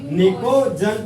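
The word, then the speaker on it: pnicogen: पिको अरे P silent है समझा आप लोग पिको Picojan family।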